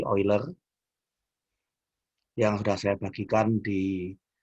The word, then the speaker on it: Euler: Ini dibaca lebih mirip V ya, fungsi V Euler. Kata EU itu kan dibacanya kalau di negara Jerman kan jadi OI.